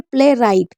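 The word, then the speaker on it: playwright: rap rack wrath और इसे पढ़ेंगे प्ले राइट क्योंकि डब्लू साइलेंट है तो इसको अच्छे से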